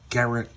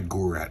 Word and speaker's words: Gurat: So the volcano erupts it causes a fissure and Garrett and uh Kong I'm sorry Gurat I keep saying it wrong.